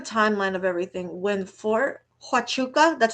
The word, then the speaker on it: Huachuca: Fort Huachuca first came up in Candace's pod, oh, ooh, I should have screenshotted it.